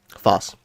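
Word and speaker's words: Phos: three I made the short uh about me mispronouncing Foss I almost said foes Foss and yeah I have a lot of psyche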